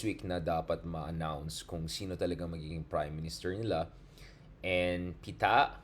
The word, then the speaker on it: Pita: announced prime minister and Pita okay that's how you pronounce the very young prime